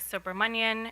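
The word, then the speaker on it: Subramanian: provide comments today uh my name is sober Manan it's spelled first name spelled s a g a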